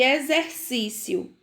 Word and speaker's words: exercício: Exame, exato, exército e exercício. E exemplo, certo? Então, todas essas palavrinhas aí são escritas com X e tem o som de Z na sua pronúncia.